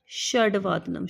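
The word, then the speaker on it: षड्वादनम्: षड वादनम ड नॉट श ड वादनम इट्स षडवादनम ड के पैर में हलंत हलंत जहां पे पड़ जाए उस वर्ण का आधा उच्चारण होता है तो यहां पे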